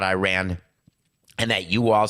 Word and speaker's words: Iran: aware Tyler Adams that the name of our country is Iran not Iran and that you all